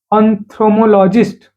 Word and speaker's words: ophthalmologist: doctor go to the doctor who is basically ophthalmologist. Uh how will you pronounce it? Its pronunciation is uh kind of a very difficult. So, you call it as ophthalmologist.